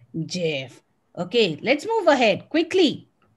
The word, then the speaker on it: GIF: So on your screen, you can see you have GIF and JIF. Oops, am I pronouncing it wrong too? What is this? GIF or GIF or JIF? This is GIF.